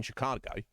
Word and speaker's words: Chicago: people who live there tell you how it's pronounced right I'm pretty sure everyone who is uh lives in Chicago everyone in Illinois everybody in the United States